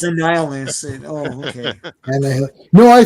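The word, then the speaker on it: Annihilus: what's being said yeah when I was six I was like anah Hillis yes it's annihilist oh okay and no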